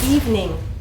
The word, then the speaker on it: evening: Okay, here's another common word that you hear all the time, evening. Let's go out this evening. Two syllables.